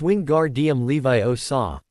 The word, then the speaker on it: Wingardium Leviosa: "You need to make the gar part a bit longer." Then Harry was cut off by the sound of speaking from the Gryffindor students. You're saying it wrong, Hermione Granger said to Ron in a condescending voice. It's wing guard Levi Osa. Make the gar nice and long.